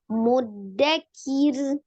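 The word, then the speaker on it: مدكر: kir hilang ya ahah jangan jangan langsung diilang angin tetap dia dialirkan hanya dibacanya tipis ya takrirnya sekali aja muddakir kir mudakir kir muddakir ya oke engak susah ya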